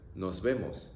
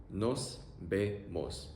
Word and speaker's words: nos vemos: The other alternative is nos vemos. It's kind of like see you or see you later. Pronunciation, o-e-o. Nos vemos. Nos vemos.